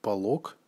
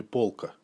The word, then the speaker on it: полок: парилки в единственном числе мы говорим полок они полога и не полка а во множественном полки